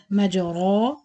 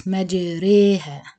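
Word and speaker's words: مجراها: That means to pronounce the ra between the alif and the ya. It's not majara and it's not majiri.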